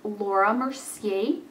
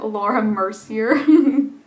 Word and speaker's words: Laura Mercier: I got this eye primer from Laura Mercier, as I was corrected when I tried to call it Laura Mercier.